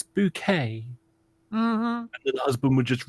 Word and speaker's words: Bucket: yes with with the what's her name bouquet but bouquet but it was actually spell Buck I remember that so every time you know someone was you know sort of Miss bouquet sorry Mrs bucket it's bouquet and the husband would